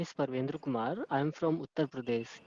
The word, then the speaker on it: Parvendra: So Parvendra, right? That's how you say it. Yeah, Parvendra, ma'am.